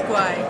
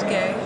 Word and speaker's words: Guay: Everybody thinks it's Guay, and it kind of should be based on the spelling. And I kind of wish it was sometimes. Raise your hand. But it's pronounced Gay.